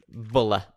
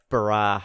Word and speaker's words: Bulla: just given birth to bulla or brah depending on which pronunciation you want have so yeah I'm not